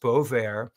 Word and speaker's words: Bovaer: The product is called Bovaer, Bovaer, pronounced Bovaer.